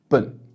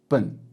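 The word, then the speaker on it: 笨: in Chinese, which is bun, bun. So imagine you're saying the very first syllable of the word banana, banana, bun, and you'll pretty much say it perfectly.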